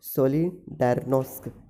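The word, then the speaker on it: Solidarność: है, जिसको कि पोलिश में क्या जाता है, सोलिडार्नोस्क, ठीक है, सोलिडार्नोस्क, ठीक है, ये कहा जाता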